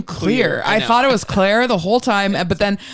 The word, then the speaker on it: Clear: was like my God her name is actually clear but they just pronounce it Claire so they make a